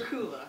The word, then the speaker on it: Styrcula: Styrcula is how you pronounce it. Styrcula.